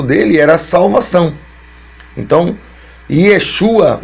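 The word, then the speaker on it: ישוע: pelos discípulos, pelas pessoas, o seu nome no original é Yeshua ou Yeshua, né?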